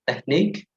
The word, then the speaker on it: technique: The last, we have technique. We have two silent letters here, silent U and silent E.